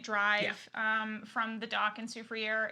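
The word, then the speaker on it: Soufrière: Soufriere.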